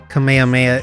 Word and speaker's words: Kamehameha: I don't think that's how you pronounce that word. Kamehameha is how you say it.